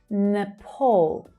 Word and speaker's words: Nepal: Nepal. Nepal. So it's the second syllable that's stressed here. And the vowel is the O as in door vowel sound. Pol. Nepal.